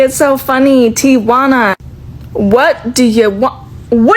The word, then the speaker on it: Tijuana: So now I say Tijuana cuz apparently in my comments that's how you're supposed to say it.